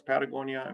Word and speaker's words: Patagonia: picked that word because it's one of the very few words in the world that are spoken, that's pronounced the same in every language in the world. So if you're in Africa, it's Patagonia.